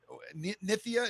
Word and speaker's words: Nithya: Nithya, is that how you say it?